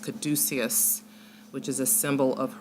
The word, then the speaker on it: caduceus: This is called I think it's pronounced caduceus, which is a symbol of Hermeticism.